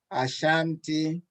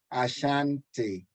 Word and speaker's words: Ashanti: Ashanti. Ashanti. and they pronounced my name differently.